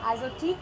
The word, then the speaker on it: Azotiique: Azotique, am I saying it correctly? That's right. That's the correct pronunciation.